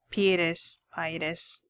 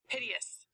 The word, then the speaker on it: piteous: Her voice sounded so pietous. Okay, you know what? I'm gonna look up what this word... how to pronounce this word, because every time I come across it, I never... Piteous.